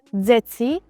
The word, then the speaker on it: deti: So words like deti are pronounced dzeci, or verbs endings like hovoriť is pronounced hovoric.